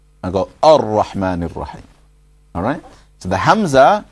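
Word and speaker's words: الرحمن: Ar-Rahman Ar-Rahim.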